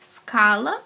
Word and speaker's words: scala: Scala, falta o ezinho aí para fazer escala do português.